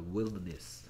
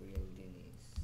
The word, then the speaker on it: wilderness: 그 다음에 얘 발음을 좀 조심해야 되는데 얘 발음은 wilderness입니다. wilderness. wilderness. wilderness.